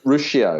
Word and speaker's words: Ruscio: Rusko on there? Did you have? What's his name? Dr. Rusko? Did you have him on there? Ruscio. Ruscio, that's how you pronounce it.